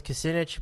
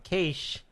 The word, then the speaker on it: Kasich: Kasich, I thought his name was Kucinich, but Kasich.